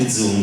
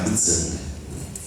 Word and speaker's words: guzheng: il discorso di prima, questo è un gzung, la pronuncia è strana, gzung, lo pronunciano così, gzung. In realtà è scritto Gezung, ho detto bello il Gezung, no, Gezung, scusa, ok.